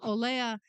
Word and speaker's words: Olea: And so I at times make orders from Oleo Essence. Every time you say that, I chuckle because I'm thinking Oleo. Yeah. You know? Yeah, Olea. It's spelled OLEA, Olea Essence, and You'll they be rubbing margarine all over yourself.